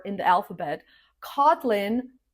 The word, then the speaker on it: Kotlin: Kotlin, just like the island Kotlin, the stress is on the first syllable.